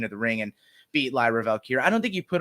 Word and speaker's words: Lyra Valkyria: How do you pronounce this girl's name? Lyra Valkyria. Yeah, Lyra Valkyria.